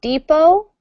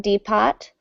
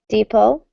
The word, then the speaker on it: depot: All right, so pronunciation, remember this is depot, not depot, depot. Just pretend there's no T.